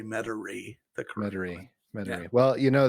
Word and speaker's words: Metairie: said you're the only one that's ever said meta rewrite because it spelled like mate m-e-t-a-i-r-i-e or something like that interesting so anyway that's pretty funny that's how i will always say metauri the commentary well you know that it was